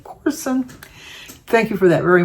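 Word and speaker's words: Courson: And Gina Corson, C-O-U-R-S-O-N, she said to pronounce it like Orson, but with a C, Corson.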